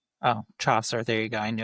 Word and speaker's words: Chaucer: Ian Fleming, Arthur Conan Doyle, William Shakespeare, or Jeffrey Chower? It's Chaucer. Oh, Chaucer. There you go. I knew I wasn't pronouncing that right.